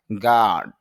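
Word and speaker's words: guard: যদি আমরা গার্ড র উচ্চারণ করি কিন্তু আইপিতে র সাউন্ডটা নেই। এজন্য এখানে দীর্ঘ হবে। বলতে হবে গার্ড।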